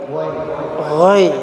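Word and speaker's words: غير المغضوب: hadaiqa zulban Ya, ghairil maghdubi bukan gai tapi ghai. ghairil maghdubi Nah, itu huruf ghainnya enggak boleh pantul dia.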